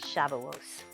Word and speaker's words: Shavuos: Today I'm going to be reading a story about Shavuot, or the old-fashioned pronunciation is Shavuos.